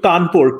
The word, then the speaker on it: Kanpur: when India had various, like the city of Kanpur, K-A-N-P-U-R is how we spell it now, was a British garrison and they spelled it Kanpur, C-A-W-N, P-O-R-E.